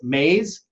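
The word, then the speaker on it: Maahs: His last name is Mays, M-A-A-H-S, and if you flip that around and you spell it backwards, it's Sham.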